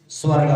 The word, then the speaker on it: स्वर्गा: सुनो सुनो सुनो, बिना सर्गा बोली, स्वर्गा बोलो, स्वर्गा सर्गा नहीं होता है, स्वर्गा बोलो वैसे।